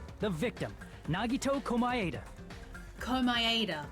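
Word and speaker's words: Komaeda: victim Nagato kuma ada call my ADA that's how you pronounce his surname thank you hide him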